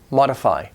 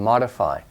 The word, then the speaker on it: modify: to understand it but just know that mode is long Oh mode but it becomes short and modify modify mode modify it's